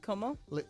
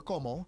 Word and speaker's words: Como: Lake Como? How do you say it? You said Cuomo, like the former governor of New York.